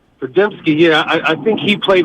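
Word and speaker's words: Podziemski: Pajemski, yeah.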